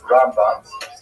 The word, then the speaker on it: Rambam: Rambam is pronounced with the emphasis on the first syllable, Rambam, and Ramban is pronounced with the emphasis on the second syllable, Rambam and Ramban.